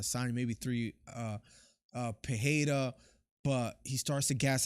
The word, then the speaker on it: Pereira: pejeda because I know the right way is pajeda and I can't help but say Pereira because I had a friend growing up with that last name and I used to pronounce it like that Miller definitely saw that